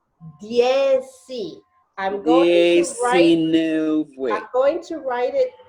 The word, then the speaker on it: dieci: Okay, it's not deci, it's dieci.